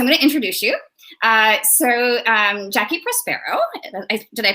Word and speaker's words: Jacqui Prospero: Jacqui Prospero, did I pronounce that right?